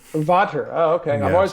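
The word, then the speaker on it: Vater: what brand are you sticks right now uh Vader uh 3A um fat back wood tip sticks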